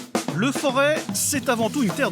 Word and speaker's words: Forez: Entre plaine et moyenne montagne, le Forêt, parfois prononcé Forez, est aussi un paradis pour les randonneurs.